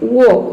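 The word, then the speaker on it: walk: वॉक, इसको pronounce करते हैं वॉक, इसमें भी एल जो है वह साइलेंट है।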